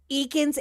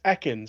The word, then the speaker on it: Ekans: it, I am sorry, Eakin's avatar on VR chat the other day? Oh yeah, when I was watching you guys' stream or whatever, it's Ekans. It's supposed to be snake Ekans. Backwards.